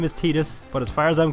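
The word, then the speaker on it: Tidus: now this guy officially his name is meant to be pronounced tetus which if you ask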